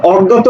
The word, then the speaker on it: অজ্ঞাত: শব্দটির প্রকৃত উচ্চারণ কোনটি আমরা জানি এটা আমরা দেখেছি যে যখন যখন আমাদের এই বর্ণটার সাথে আকার থাকে তখন সেটা জ্ঞ হয়ে যায় সরি তখন সেটা জ্ঞা হয়ে যায় ঠিক আছে এরকম হয়ে যায় উচ্চারণটা তাহলে দেখো অজ্ঞ কোথায়